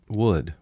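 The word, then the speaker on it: Would?: remember it okay wood no it's actually wood wood that's a question no it's wood you have to say it like that wood all right next band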